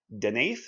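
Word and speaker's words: Deneith: Then House Denith Denith, I think is how it's said.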